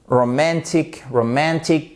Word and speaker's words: romantic: Romantic, à l'accent tonique qui est sur la 2e syllabe.